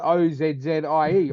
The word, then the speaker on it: Aussie: we pronounce it OZZIE, Aussie.